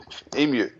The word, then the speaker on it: emu: Emu. That, we say emu. We, yes, yes. The Yeah, well, the first vowel causes the second vowel to be pronounced as the uppercase sound, you.